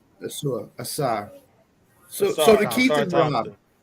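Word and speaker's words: Ausar: So, how's it pronounced? Asar.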